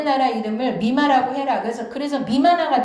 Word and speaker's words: 任那: 미마나 미야케라고 읽어요. 여기에 임나 일본부를 미마나 미야케라고 하고요. 여기 임나 어태, 임나 둔창, 임나 관가를 다 미마나 미야케라고 읽습니다.